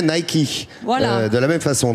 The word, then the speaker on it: Nike: Voilà, qui se prononce d'ailleurs en anglais Nike.